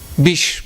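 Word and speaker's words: বিষ: today how do you say poison in Bengali bish bish yeah yeah he becomes being a bish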